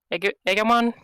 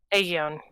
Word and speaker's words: Aegon: horribly pronounce the name, Egamon? Is that a Digimon or a Pokemon? Aegion. Aegon. He was just taking a swig when you pronounce the name right.